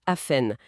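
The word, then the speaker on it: often: Historiquement, le thé était muet. On disait afhène. Aujourd'hui, surtout aux États-Unis, on entend de plus en plus le thé. Les deux sont acceptés.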